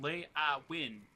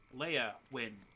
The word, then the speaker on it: Leowin: It's 2 syllables, not 3. It's not Lay-a-win. It's Leia-win.